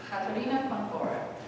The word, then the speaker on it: Katharina von Bora: And since she's from Germany, her name, if you were to pronounce it in German, would be Katharina von Bora.